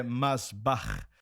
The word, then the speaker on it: Masbach: Como americano você está excelente. Mas é mas bar mais com R porque na Holanda falamos muito arranhando assim.